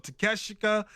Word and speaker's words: Takeshita: Takeshita. Oh, I caught myself. Takeshita.